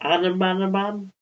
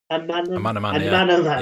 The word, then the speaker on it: Amanaman: how do you pronounce it? Anamanaman? Amanaman, yeah.